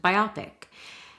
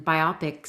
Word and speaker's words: biopic: But I also think for some reason biopic sounds better maybe because it rhymes with myopic.